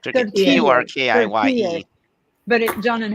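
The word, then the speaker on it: Türkiye: Turkiye.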